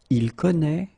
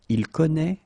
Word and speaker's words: connaît: Je connais, tu connais, il connaît, elle connaît. And keep in mind that it's a strange thing. I know, but you should put here this accent circonflexe. You don't pronounce it, I know that.